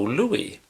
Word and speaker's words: Louis: the 30s and 40s some of the broadcast people chose to pronounce Joe Lewis's last name in the French pron I iation Louie but like I say